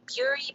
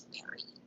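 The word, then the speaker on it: bury: before do you remember it's not berry it's not puree but it's berry just like strawberry so say it one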